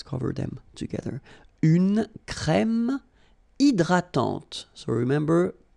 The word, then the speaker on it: hydratante: Une crème hydratante. So remember, H is not existing, and then this Y is pronounced like I.